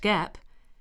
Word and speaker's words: GAAP: The term generally accepted accounting principles or GA AAP pronounced GAAP refers to a set of rules followed by accountants in preparing companies financial statements.